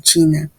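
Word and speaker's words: qi: q pero no olvidemos se pronuncia chi Qué designa dice la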